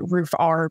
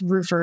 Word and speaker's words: Roofr: There's some companies called, everybody pronounces it Roofr, but it's not. It's Roofr.